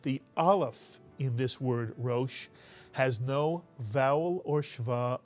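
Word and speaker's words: ראש: And if there's only one vowel, there's only one syllable in this word. This is a one-syllable word. Can you read this one-syllable word? And if you said Rosh, you are absolutely correct.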